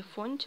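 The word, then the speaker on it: Fonty: Это такая вот пряжа от Фанти или Фонти, но, наверное, правильно говорить Фанти, это французы.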